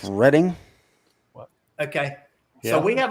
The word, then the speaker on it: Reading: but it's Reading. Okay. Yeah. So we have a town The here in Reading South Railroad?